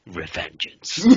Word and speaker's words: Revengeance: Revengeance.